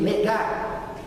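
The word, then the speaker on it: נגע: só gente tem uma palavrinha em hebraico se pronuncia Nega e aqui eu queria que a identificação porque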